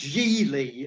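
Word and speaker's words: Gigli: giggling yeah well it's it's it's pronounced jeely and the ben affleck ben affleck makes a point in the film this is one of the things that's so wrong with that movie he's got this big thing in the film where he keeps telling people that my my name is jee lee it rhymes with really and i'm thinking geely does not rhyme with really ben so um no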